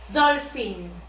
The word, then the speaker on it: dolphin: Miren cómo se escribe con la P y la H. Estos dos hacen como si fuera la F. Dolphin. Como si estuviera aquí la F.